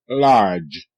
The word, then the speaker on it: large: Large. L R. Large. Large. Large. E is silent.